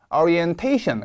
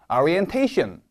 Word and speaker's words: orientation: you should find this orientation 강세가 태에 옵니다. 제가 읽으면 따라해 보실게요. orientation 따라하고 계시죠?